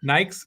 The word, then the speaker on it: Nike: it was controversial because Nike's search traffic over Reebok and Adidas went through the roof Nike Nike is how you pronounce that in Germany where in Europe where I grew up and um um and